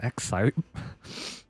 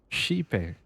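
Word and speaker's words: Xipe: That's how you pronounce it? I've been pronouncing it Exite. Sheepe.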